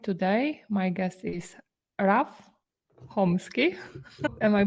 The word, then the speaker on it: Chomsky: by SEO slide today my guest is Raf homeski am I pronouncing it correctly yes yes that's correct hello